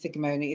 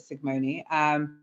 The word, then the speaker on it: Sicgmone: So as I mentioned, my name is Sigmoni. It's weird, it's actually spelled with a C and a G, so like Sigmund Freud, but Sigmoni.